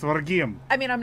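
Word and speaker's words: Rhegium: Regime. Yeah. Regium. Regium. I'm Sicilian. I should be able to say this shit, but I can't. I was there. I know how to say it. It's Regium.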